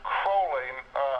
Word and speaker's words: Crowley: First of all, it's Crowley. Crowley. Crowley, not Crowley.